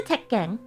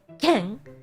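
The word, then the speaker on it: 鉄拳: So, put a pause between the T and the K to say to impress a Japanese person.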